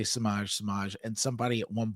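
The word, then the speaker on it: Semaj: it's spelled s e m AJ and it's pronounced samj and I do that Billy Billy Donovan would say samage samage and somebody at one point corrected him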